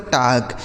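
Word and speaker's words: talk: पढ़ा जाता है दोस्तों टाक टी ए एल के टाक सॉरी टाल नहीं टाक पढ़ेंगे ठीक है यहां जो एल लिखा है दोस्त यह साइलेंट है मतलब इसका उच्चारण नहीं होगा टॉक मतलब होता है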